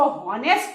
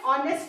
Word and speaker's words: honest: लेकिन आपको ये याद रखना है कि HONEST में एच जो है स्पेलिंग में आता है, लेकिन जब हम इस वर्ड को प्रोनाउंस करते हैं तो इसमें एच साइलेंट होता है और इसमें किसका साउंड आता है, ओ का साउंड आता है.